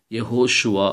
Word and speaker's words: யஹோஷுவா: எழுத்தும் நான் இதுல போட்டிருக்கிறேன் இதை நீங்க உச்சரிச்சு பாருங்க இந்த ரெண்டும் சேர்ந்தது யா இது ஓ இது ஷ உ ஆ யஹோஷுவா அப்படின்னு சொல்றோம் இப்ப இந்த ஷுவா என்னது இது